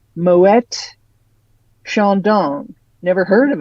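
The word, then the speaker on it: Moët: so there you go uh Moet no I wouldn't have said it that way moette sha dong never heard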